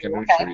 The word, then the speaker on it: Khonshu: Khonshu, yeah.